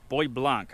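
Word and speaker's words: Bois Blanc: big one right here called Boy Blanc I believe is how it's pronounced some kind of a French name then there's a smaller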